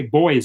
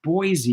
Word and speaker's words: Boise: I always used to pronounce Boise incorrectly. I used to say boys, and the people say, what the hell are you talking about, boys? What's boys? And there's no city called Boise. And I said, yeah. And I would spell it out, B-O-I-S-E. And they said, no, that's Boise, you idiot. So finally I learned it's actually Boise.